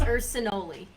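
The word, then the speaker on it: Urcinoli: __ ] okay it's ursinoli it rhymes with cannoli it rhymes with cannoli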